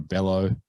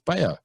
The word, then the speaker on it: Bello: And as do most, Aussies and a lot of Americans and whatever, Cabrera Bello, they pronounce the double L, but it's Bello.